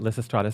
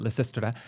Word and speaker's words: Lysistrata: It was called Lysistrata. Yes. Lysistrata. Some people pronounce it Lysistrata. Some people pronounce it Lysistrata.